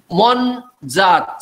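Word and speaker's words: mon'zat: Mon zat. See, after N, there is apostrophe because it is not mon zati. It is not nasalization. This N has to be pronounced like N.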